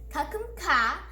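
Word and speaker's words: ขอบคุณค่ะ: Kakum ka is a girl, and kakum kap is a man. Ka is for girls and women, and kap is for boys and men. Kakum kap and kakum ka.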